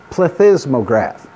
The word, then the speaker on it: plethysmograph: can record that using a device called a plethysmograph and that's actually how you say it this is a plethysmograph many of you have probably seen a plethysmograph